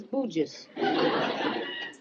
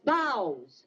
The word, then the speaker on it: boughs: What is this bouges? Bushes, right in there. That's boughs. B-O-U-G-H is bow? Right. Bow.